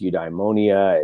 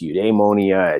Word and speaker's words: eudaimonia: It's something that's variously been, you can pronounce this however you want it. It's eudaimonia, it's eudaimonia, it's eudaimonia, depends on exactly, and there's a few